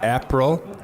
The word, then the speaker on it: Aprel: His name is Aprel? Have I pronounced that correctly? Oh, it's close enough. April. April, yep.